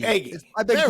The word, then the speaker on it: Egge: But It's I hope I pronounced it right. It's Egge. Egge.